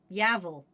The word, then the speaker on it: Yavel: Yavel. Pronounced like Yuval. That's weird.